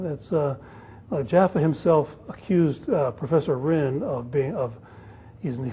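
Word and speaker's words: Ryn: That's Jaffa himself accused Professor Rinn he said he's not just criticizing me and my fellow Straussians, but he's criticizing Jesus Christ himself.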